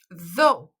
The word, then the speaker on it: though: Então, quando você for pronunciar essas palavras, ignora o GH, não se importa com eles. Então, a primeira eu li though.